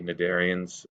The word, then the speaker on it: cnidarians: So we've got Hydra, which are these little tiny cnidarians. The C is silent, that's fun.